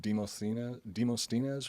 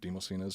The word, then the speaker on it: Demosthenes: The general sent to assist in the campaign was a man named I'm pretty sure it's pronounced Demosthenes or Demosthenes.